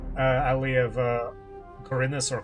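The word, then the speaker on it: Khorinis: story takes place in the M alley of kinus or kinus as it apparently is pronounced a penal colly violently taken over by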